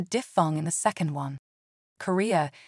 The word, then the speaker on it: Korea: Korea is 3 syllables, none of which contain a diphthong.